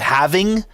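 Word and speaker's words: halving: right it doesn't matter I say havening I know it's totally wrong people call it having so that's absolutely crazy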